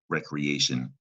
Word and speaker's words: recreation: If indeed you said reaction when reading recreation, you probably dropped that middle R sound out of recreation.